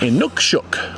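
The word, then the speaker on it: inukshuk: In Nookshook.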